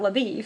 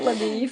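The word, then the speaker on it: LaBoeuf: It looks like it would be pronounced Labeuf or something. But I did read one commentary, and they said they think that they mispronounced his name as Labeef, kind of as a to poke fun at him because he's from Texas. Because he's a Texan, and they're associated with cattle.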